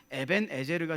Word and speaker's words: 에벤에제르: 뜻이에요 도움의 돌이라는 뜻이에요 에벤에셀은 우리가 그냥 에벤에셀이라고 부르는데 히브리어에 가깝게 발음하면 에벤에제르가 되겠죠 하나님이 여기까지 도우셨다는 뜻이에요